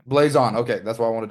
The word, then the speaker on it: Blazon: And then it's Blazon is the name of the company. Yeah. Blaze On is the name. Blazon.